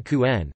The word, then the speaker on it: Kuhn: Richard Johann Kuhn, German pronunciation, K.T. Johann Kuhn, the 3rd of December 1900 to the 1st